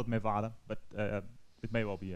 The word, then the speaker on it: Mevade: malware is pronounced um i always call it mevada for some reason but uh it may as well be me vade and when i asked